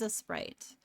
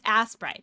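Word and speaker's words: Aseprite: Yeah, I butcher the pronunciation every single time. I sure hecking do. A sprite. That's what it is. Okay. Um and then we're going to delete. And then ass pride. Yeah, it's assrite.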